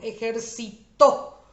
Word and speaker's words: ejercitó: El primero, ejercitó, es una palabra aguda porque su sílaba tónica es la última.